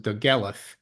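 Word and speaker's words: Dolgellau: uh it's spelled doala but it's actually you pronounce it dth I I'll show you here it's that's the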